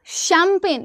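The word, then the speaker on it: champagne: फिर आप दूसरा मैंने कहा शैंपेन तो बोलते हो आप क्या शैंपेन लेकिन लिखते क्या हो आप? चैंपेगन। अभी देखना सी एच ए एम पी ए जी एन ई।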